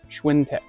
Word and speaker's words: Schwintek: Schwintech.